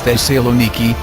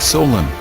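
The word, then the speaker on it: Thessaloniki: names they were derived it is the saloniki not Solen from Alexander to my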